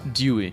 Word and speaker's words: DUI: Meet DUI. Pronounced Dewey.